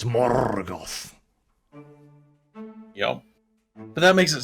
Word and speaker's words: Morgoth: the RS on everything it's not more Gods it's morgoth yo but that makes